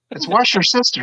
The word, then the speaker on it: Worcestershire: No, it's wash your sister sauce.